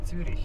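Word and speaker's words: Zürich: In German, you say Zurich. Zurich. But English way is Zurich. Zurich.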